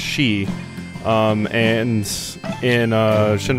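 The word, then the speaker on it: sidhe: have seen it before it's spelled like s i d h e and that's pronounced she um and in uh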